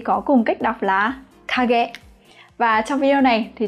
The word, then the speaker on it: 影: Đây là hai từ kanji có cùng cách đọc là kage.